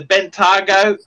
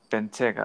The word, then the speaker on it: Bentayga: Actually, I got to tell you, the Bentley, the Bentago, is Bentayga, I think.